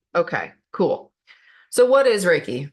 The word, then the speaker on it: Reiki: kind of look Okay cool so what is raiki Right Reiki roughly translates to Universal Life Force energy and it's pronounced Ray key okay the key portion is known asqi life